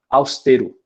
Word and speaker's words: austero: né assim como na austere né ah não é austero austero tá o som continua sendo forte no no e mais a pronúncia do som aberto né inclusive é aquela